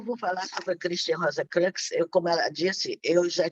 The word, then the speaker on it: Rosenkreuz: O Rosenkreuz, acho que é assim que pronuncia. Christian Rosenkreuz.